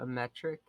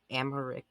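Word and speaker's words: Aymeric: Sir, have you met someone by the long name of Sir Ametric? I don't think so. Okay, that's how you say his name. It's not Amaric.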